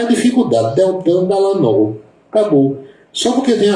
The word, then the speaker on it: Deltan Dallagnol: Eu não vejo dificuldade em pronunciar o nome desse rapaz, sinceramente, é Deltan, Deltan Dallagnol.